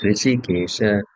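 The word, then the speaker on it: हृषीकेश: It's not R with the dot below only. Then it is Rishikesha. There's H also before that. So it's Rishikesha.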